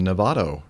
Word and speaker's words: Novato: having a meet-up in Novato uh Marin County Nevada and Nevada n-o-v-a-t-o I said it right not the state of Nevada no no I just